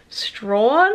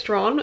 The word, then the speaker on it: Strahan: the whole time too we're in strawn it's which is spelt like strahan but i think you say it's drawn at least that's how they were pronouncing it when we're on the cruise the other day but